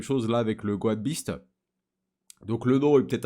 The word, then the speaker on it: Beast: Et d'ailleurs, les gars, ça se prononce bel et bien Beast et non pas Best, hein. C'est Beast.